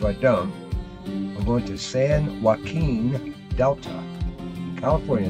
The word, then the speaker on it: San Joaquin: at me if i don't i'm going to san joaquin delta california it's a level 34 waterway it's